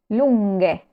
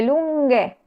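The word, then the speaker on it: lunghe: para respetar el sonido entonces lunga que significa larga el plural es lunge Cómo se escribe lunge usando la gh pasa lo mismo con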